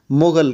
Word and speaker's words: مغل: کا رخ کیا تو چونکہ عربی زبان میں گاف کو غین کے تلفظ سے ادا کیا جاتا ہے، اس لیے منگول کہلانے لگے، جن کو انگریزی میں مونگل اور عربی اردو میں مغل کہا جانے لگا۔ مغلوں کی تاریخ چنگیز